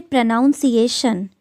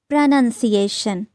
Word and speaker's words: pronunciation: We say pronounce, pronounced, but we don't say pronunciation. It's pronunciation. Pronunciation. There's no noun in pronunciation.